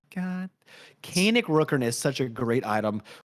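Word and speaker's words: Kaenic Rookern: the game shout out Kanan Rooker Kan Rooker I messed it up I said it wrong the first time God kanic Rooker is such a great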